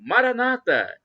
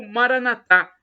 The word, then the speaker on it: Maranata: E do aramaico, dialeto de Jesus, eu clamo, Maranata. Pronúncia dos evangélicos ou protestantes, nossos irmãos separados, com a tônica na penúltima sílaba, ou Maranatá, pronúncia de nós católicos, com a tônica na última sílaba.